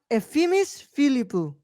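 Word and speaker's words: Efthimis Filippou: So it's pronounced Ephemis Philippou.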